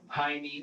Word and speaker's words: Jaime: The J in Jaime here is pronounced with an H sound, like it would be pronounced in Spanish. But Michael and the detective pronounce Jaime with the J sound.